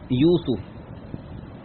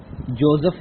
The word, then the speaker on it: یوسف: العظیم۔ آپ ابھی سورۃ یوسف کی پہلی 3 آیات سن رہے تھے۔ اس سورت کا جو اصل تلفظ اور پروننسیشن ہے وہ ہے یوسف۔ لفظ یوسف نہیں ہوتا، جوزف نہیں ہوتا، یوسف۔ 111 آیات، 12 رکوع